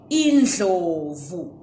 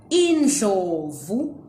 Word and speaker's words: Indlovu: Okay, today I want to teach you how to pronounce the word Indlovu. Indlovu, together with other Ndebele words that use the Ndli sound.